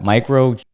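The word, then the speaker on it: chimerism: This BS is usually a misinterpretation of micro how do I pronounce that? Microism.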